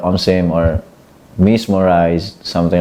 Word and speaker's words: omsim: Japan yeah yeah uh omim is like um it's it's originally um pronounced mismo but they just you know scrumble the words uh just reverse the words so it's it's it's spelled omim yeah so I I